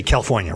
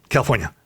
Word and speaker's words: California: People tell me I don't pronounce the R in California enough. So I like to just say California real quick. Oh, okay. California.